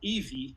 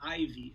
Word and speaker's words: Evie: So it's called Evie, not Ivy, as most people will end up pronouncing.